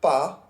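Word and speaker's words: pas: worth noting is that the word PA which ends in a silent s can Li with a vowel initial word that follows it or not it's up to you but most French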